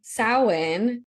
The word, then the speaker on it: Samhain: Samhain, like we said, it's spelled like it would be Samhain. It is not.